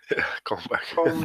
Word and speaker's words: comb: Combed back hairstyle. But so comb is it's a word for this tool, right? Yeah. But B is silent. No, B. Comb. Right, comb.